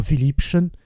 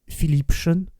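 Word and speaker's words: Philippchen: d'obli nous l'avons dit le mot philipchen est devenu philipson à cause de la prononciation la méprise a commencé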